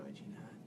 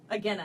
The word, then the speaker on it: Agena: Agena. Agena. Agena. Sorry, I will pronounce it wrong for a while. No, Agena.